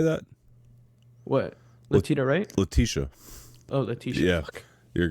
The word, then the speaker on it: Letitia: Letitia. Oh, Letitia. Yeah. Fuck. You're good. Fuck. Letitia Wright. It's all right. I mispronounced it all the time.